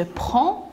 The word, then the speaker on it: prends: Je prends avec S. Et je ne prononce pas le D.